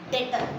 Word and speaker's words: debtor: डेटर। क्या बोलूंगी? B is silent। डेटर।